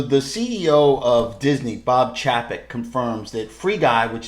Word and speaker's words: Chapek: Chapek? Chapek? Yeah. So the CEO of Disney, Bob Chapek, confirms that Free Guy, which is out now, and ShangChi will be released exclusively in theaters.